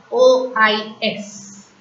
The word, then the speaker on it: trois: TROIS. Trois. OI in French is oua. So we call 3 as trois. S is silent. I have already told you.